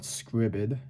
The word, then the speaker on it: Scribd: go to scribd which if you know what scribbid is and i'm gonna say it's spelled it's uh s c r i b